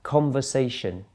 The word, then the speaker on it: conversation: the first syllable conversation the second one conversation where's the stress there it's actually on the third syllable primary stress conversation the next one interview